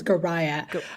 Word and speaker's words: Goraya: and last name is gah I always tell folks it's like Mariah but with a G nice okay that's helpful thank you gah and she is the